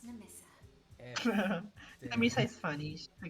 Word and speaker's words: Nemissa: Oh, my name's Nemissa, by the way. Oh, it's wait, it's Nemisa? I always pronounce it Nemisa.